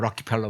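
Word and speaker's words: Rockefeller: 3자위원회는 록펠러, 보통 이제 우리는 록펠러 하는데 현지 발음 뭐 락키펠러 뭐 그러는데 어쨌든 록펠러가 만들었고 브레진스키가 사무총장이었습니다.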